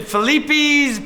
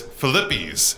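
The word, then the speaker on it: Filippi's: i say it right is it felipe's pizza grotto it is philippi's pizza for lippy's pizza grotto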